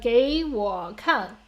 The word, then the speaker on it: 给我看: But 给我看 each of the syllables should have their own tones.